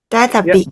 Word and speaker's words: Data-B: Data-B. Data and happiness together.